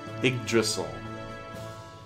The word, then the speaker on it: Yggdrasil: That's how you pronounce it. Yggdrasil.